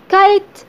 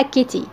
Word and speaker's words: kite: نخلي بالنا ان حرف الاي في الاخر ما تنطقش. طب ايه لازمته؟ جه عشان يخلي الحرف المتحرك اللي في النص اللي هو اي يتنطق باسمه. اي كايت. كايت لا قلناها كت ولا قلناها كيتي.